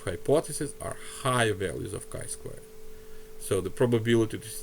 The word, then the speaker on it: chi squared: kind of written as t squared but it's pronounced the sky squared right g squared chi squared value for my specific sample right remember the